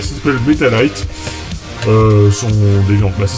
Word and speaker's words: Metalight: Alors ça s'appelle pas Metal Gear, ça s'appelle Metalite. Son Deviant. Bah ça s'écrit M-E-T-A-L-I-G-H-T.